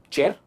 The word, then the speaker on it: chair: Chair काफी आरामदायक है। Comfortable. Chair, मैंने chair नहीं कहा, मैंने कहा chair। मैंने R को प्रोनाउंस नहीं किया, वो एक साइलेंट है।